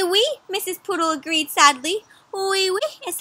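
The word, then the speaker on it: oui: Wee wee is how you say yes, yes in French.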